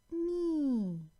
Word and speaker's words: knee: Well, K is silent, as in knee, knife.